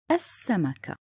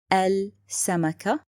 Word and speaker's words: السمكة: Another point, written but not spoken. I said السمكة. I didn't say السمكة. This is wrong.